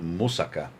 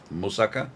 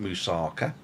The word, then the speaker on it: moussaka: And he taught me how to do moussaka and how to pronounce it. Moussaka, not moussaka. It's moussaka.